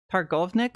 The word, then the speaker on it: Targownik: Okay, Hargovnik, I think is what she said is how her name is pronounced. The W is pronounced like a V like in um German I think does that getting ready for vacation.